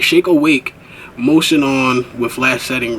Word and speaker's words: Shake Awake: only shake a weight shake awake gotta pronounce that not shake weight shake awake motion on with flash